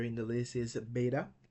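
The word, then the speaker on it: βῆτα: Now the second letter in the list is beta. Beta is pronounced like B in boy, and our English correspondent or English equivalent letter is B.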